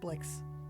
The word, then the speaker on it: Blyx: were confused by uh you know the name blix uh sometimes it's the hard word some folks uh now well not announced but pronounce my name because it spelled weird but